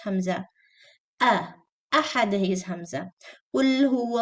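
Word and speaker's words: أَحَد: Ahad is hamza. Qul huwa Allahu ahad, not wahad.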